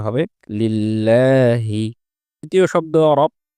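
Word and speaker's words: لِلَّهِ: পূর্বে জের এসেছে এজন্য এই লামটি পাতলা হয়ে উচ্চারিত হবে উচ্চারণটা হবে লিল্লাহি দ্বিতীয় শব্দ এ শব্দে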